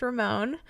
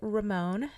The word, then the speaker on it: Ramón: it is first and first and foremost it's pronounced Ramon um for everybody that gets that wrong which is very common it is Ramon so um Ramon we're going to go ahead